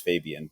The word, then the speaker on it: 5ab1an: and my stage name my real name is fabian but that's the way i spell it is um is the stage name you know 5ab 1an and the reason